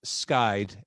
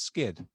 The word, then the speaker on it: SKYD: with you before and i just looked at the name i'm like oh it's skid oh yeah we expect